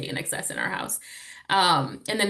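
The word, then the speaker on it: INXS: sure people Which know, but which she pronounces inkses, by the way, and it's the running joke in the house because that's one of the words that I showed her, and she was like inkses, and so we just call them inksons now.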